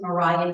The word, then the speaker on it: Maria: So she hires a household assistant, a young African-American woman whose name was Mariah Davis. It's spelled Maria, but it's pronounced Mariah. There's no H at the end.